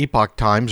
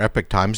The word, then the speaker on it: Epoch Times: and they pronounce it the epoch times but a lot of people call Epic but here's a table